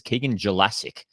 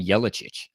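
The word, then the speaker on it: Keegan Jelacic: And I'm pretty sure, I don't, if I remember correctly, it's it's Keegan Jassic. And we've all been saying Yellowic, but Gelassic, which is like nowhere near what we've been saying.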